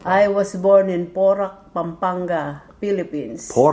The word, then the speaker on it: Pampanga: Pampanga.